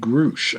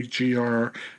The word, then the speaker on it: Grusch: Safe Aerospace, and retired Air Force Major David Grusch. I think I'm pronouncing it correctly, Grusch, and retired Navy Commander David Fravor.